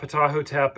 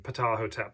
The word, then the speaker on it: Ptahhotep: powerpoint entitled patahotep um that's about the best that i can figure how to say this i am definitely no expert on ancient egypt but this seems to be the rough pronunciation patahotep so that the p is not uh silent um okay so let's